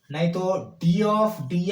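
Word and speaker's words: ∂: वाई बाई डो एक्स, इसको बोलते हैं डो, डू नहीं, डो, दो नहीं, दो, डो, डो, डी एच वो, डी वो, आपका मर्जी, क्या मैं प्रोनाउंस कैसा कर रहा हूं देखिए, डो बोलते हैं इसको, दो नहीं बोलते हैं, एक दो वाला दो नहीं है, ये डो, ठीक है ना।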